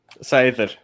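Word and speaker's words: seiðr: Cider. Cider. Cider. Okay. Oh, Very good. Like So, TH, like almost there. TH on the where the D is.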